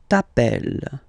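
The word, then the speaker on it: t'appelles: Okay, remember final S not pronounced tapel.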